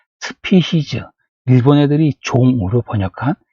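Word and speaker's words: species: 이걸 영어 발음으로 그냥 스피시즈 할 뿐이에요.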